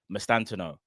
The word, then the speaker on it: Mastantuono: Yeah, I think that's how you pronounce it, but I think you don't pronounce the U. Mastantuono.